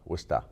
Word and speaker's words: Worcester: Worcester. Say it right. Worcester.